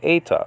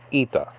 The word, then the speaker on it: eta: an e class okay it's called eta according to biblical greek now according to modern greek it's called ita so it's actually an